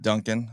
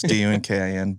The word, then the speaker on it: Dunkin: Yeah, hey, my name's Dunkin. I always spell my last name because I just say it's like the donut because it's spelled different than everybody else. So it's Dunkin.